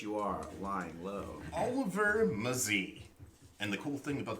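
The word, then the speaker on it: Mazei: Oliver Muzzy? Oliver Mazzie. It's spelled M-A-Z-E-I.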